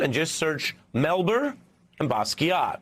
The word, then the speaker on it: Basquiat: just search melber and Basquiat b-a-s-q-u-i-a-t the t is silent like lasagna but you can go